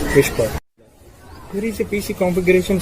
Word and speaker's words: WSPR: WSPR stands for Weak Signal Propagation Reporter, simply pronounced as Whisper.